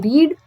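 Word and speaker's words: read: Second form में spelling same रहती है लेकिन तब हम इसको रेड पढ़ते हैं, ठीक है। एंड थर्ड फॉर्म में भी स्पेलिंग सेम रहती है और हम इसको रेड पढ़ते हैं, तो रीड, रेड, रेड, ठीक है।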